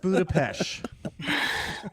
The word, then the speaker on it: Budapest: It's pronounced Budapest.